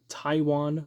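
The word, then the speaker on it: Tiawan: of two success from Taiwan Mullen spelled like tijuan but it's Taiwan I guess uh he's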